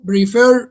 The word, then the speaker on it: prefer: And what about intend, cancel, prefer, reply? Intend, cancel, prefer, reply. I think it's reply. Reply, you stress the second syllable. Prefer, you stress the second syllable.